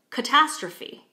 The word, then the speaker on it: catastrophe: So when we say it in English, catastrophe, we can hear that there's a stress on the second syllable, catastrophe, right?